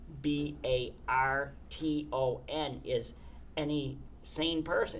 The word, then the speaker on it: Barton: It's like for example the the word the town name B A R T O N is any sane person. It's Barton. But we pronounce it Botan.